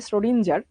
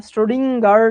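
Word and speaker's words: Schrödinger: স্টোরিজিং উচ্চারণটা খুবই বিদঘুটে নরমালি আমরা যেরকম বলি স্রডিঞ্জার ঠিক ওরকম না স্ট্রোডিংার টাইপে জেনে কেমন উচ্চারণ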